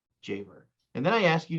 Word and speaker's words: Javor: I wanted to say it differently as I said it to you before, and you go, that's not how you say it.